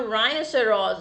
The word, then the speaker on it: rhinoceros: Now rhinoceros. Again rhino. So H is silent here, children.